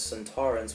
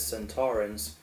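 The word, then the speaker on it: Sontaran: Also, Donna's misprononunciation as Santo Torren was actually the original pronouncing in the time warrior the first episode. Santorins appeared, but Kevin Lindsay, who played Lynx, pronounced it as Santorins, just like we all do, and he won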